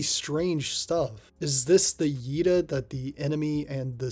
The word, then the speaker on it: Yeda: Is this the Yeda that the enemy and the stage heavily inhabited by them from Space Harrier are named after? If so, why does the manual insist that it's pronounced Ida?